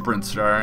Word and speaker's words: Brinstar: I'm going to pronounce it Brinstar, and if you have a different pronunciation, just deal with it, honestly.